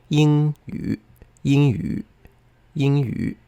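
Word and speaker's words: 英语: It's true that means English, but the pronunciation would be 英语英语. I went too high. I almost changed it into a second tone there.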